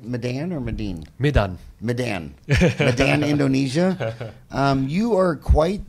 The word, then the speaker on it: Medan: Medan.